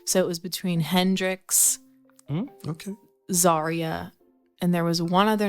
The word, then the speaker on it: Zaria: Zaria is how you spell it. I'm telling you when you go to the doctor. Zaria like diarrhea. And that's just really stupid, though. That actually, Zaria. I'm like, no, it's Zaria.